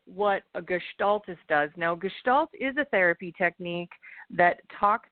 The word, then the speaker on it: Gestalt: yeah yeah well and okay so am I pronouncing that word right Gest Sal it's Gestalt you're very close G gestal okay gestal Coach